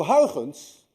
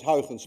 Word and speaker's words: Huygens: - by the way is difficult to pronounce any one of you who knows how to say housands correctly is also Dutch because you miss the air in your language and you missed it